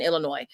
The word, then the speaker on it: Illinois: Because I've heard it both ways from reputable people that live in Illinois. So I'm confused. So I like to say Illinois, because to me it's French, so the S is silent.